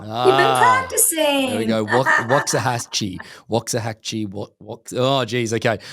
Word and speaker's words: Waxahachie: this wrong because of my accent of course wah Hatchi oh you did it very well you've been practicing we go wah hatche wah haki oh geez okay I had a